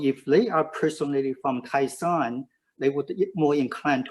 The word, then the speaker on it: Taishan: Kaiping or Taishan? Taisan, yes. Taisan. Sorry about my pronunciation.